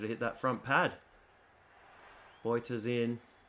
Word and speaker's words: Botha: I think that's how you pronounce it in Afrikaans. Sometimes Australians butcher it as Botha because we're very uncultured and don't like pronouncing anything that's too difficult. But I believe it is Boita. But I could be wrong.